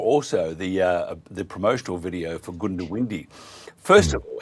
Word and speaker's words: Goondiwindi: fair school of thought from traditionalists that it's Goondiwindi, right? But I say Goondiwindi. Okay, so you're very close in your introduction before, very, very, very close. But just don't say Goondiwindi, which some people don't emphasise that, and you didn't.